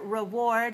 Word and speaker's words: reward: Notice that the first syllable is weak. We don't say re, we say rit. Just like the last syllable in graduate, it, very weak sound, it, graduate, rit, reward.